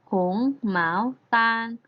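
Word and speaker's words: 红毛丹: ก็ คือ เงาะ ค่ะ เงาะ ใน ภาษา จีน พูด ว่า ยัง ไง คะ นัก เรียน เธอ เก่ง มาก ค่ะ พูด ได้ ว่า หงส์ หมาว ตาล ผง หมา ว ตาร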